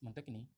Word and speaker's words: Montaigne: Ini yang bahasa lisan Bapak, cara pengucapan saya kayak gitu. Michel de Montaigne atau Montaigne lah gitu ya.